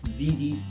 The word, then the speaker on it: vidi: in Latin is Veni, Vidi, Vici. Except some people pronounced it slightly differently, and they would pronounce the V as a W. So some people think he said weenie, weedy and weaky, thereby dividing